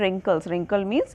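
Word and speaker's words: wrinkles: कि हमारे चेहरे पर रिंकल्स इसको पढेंगे इस पर ब्रिंग टू फ्रंट यह अपने जो डब्लू है वह साइलेंट है कि हमारे चेहरे पर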